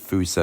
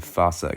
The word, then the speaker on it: fossa: And I know a lot of people pronounce it fossa, I'm more of a fossa guy.